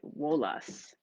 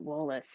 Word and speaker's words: Wallace: last name is Wallace, but they pronounced it Wolas," which is funny because that's something that he had told me when we first met. And she says, "But they pronounce it Wolas, and we're from Southwest Pennsylvania."